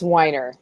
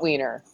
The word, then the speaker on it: Weiner: It's Weiner, not Wiener.